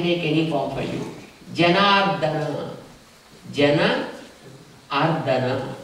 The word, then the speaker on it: Janardana: It's not mardana. Some words do we know, like how they have to be pronounced. So Janardana. It's not Janardana. Don't stress on that.